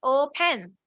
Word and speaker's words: open: It's not open. It's O. This syllable is stressed.